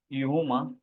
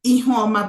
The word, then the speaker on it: Ihoma: Yeah, so am I correctly pronouncing your name, or how do you pronounce? Pronounce it as Ihoma, but it's okay.